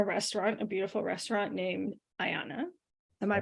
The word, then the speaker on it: Aiana: you own a restaurant a beautiful restaurant named Ayanna am I pronouncing that correctly that's just how I've been